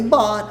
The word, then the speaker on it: bought: Agora, se eu já comprei um carro novo, I bought a new car. Pronúncia dele super simples. Bought. Tá? Bought. Ah, mas e o G e H? É bought.